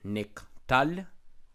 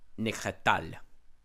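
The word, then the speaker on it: נִקְטַל: So you would not say it like this here, niktal, niktal. You wouldn't say nikatal. You wouldn't say nikatal, but niktal.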